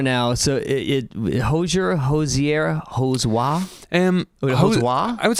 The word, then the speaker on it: Hozier: so it holds your Hosier um I would say this was a new one that's like newly coined uh but I would say Hozier like rhymes with Cozier yeah um it's amazing